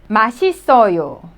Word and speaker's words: 맛있어요: 맛있어요. You could see the first syllable, 맛.